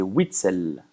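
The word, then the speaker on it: Witsel: La prononciation de Witzel, c'est Witzel.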